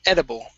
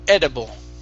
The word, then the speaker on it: edible: Yep, it's edible. Edible. Okay, give me a good D sound instead of edible. Okay, with the D in English, you do not want your tongue to touch your teeth.